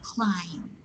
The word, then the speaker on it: climb: So if you will say, I will climb the mountain. It's not climb, but climb. Yes? This is silent B. It's silent B.